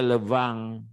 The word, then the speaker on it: le vin: Tulisannya vin, bacanya levang gitu ya.